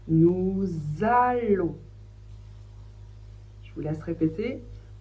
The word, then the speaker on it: nous allons: En français, ça fait le son on et le S, on ne le prononce pas. Donc on prononce nous allons. Je vous laisse répéter nous allons.